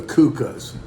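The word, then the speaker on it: Kuchen: influence that serve the kukas it's actually uh spell Kuching like k-u-c-h-e-n something like that but it's pronounced Kuka anyway what we're gonna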